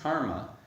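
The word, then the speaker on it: kamma: And this is also in line with the meaning of the word kama, or as it's often pronounced, karma, which the definition of that, a simple definition, is action driven by intention.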